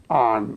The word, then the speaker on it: on: 왜 그러냐면은 이 전치사 on이라는 전치사는 다음에 또 이제 설명하겠습니다만은 발음은 우선 발음이 중요하니까 발음은 이게 미국식으로 설명하면은 on 그래요. on 영번음이죠. 우리 아보다 조금 더 내려가서 이완음이에요. on 그래요.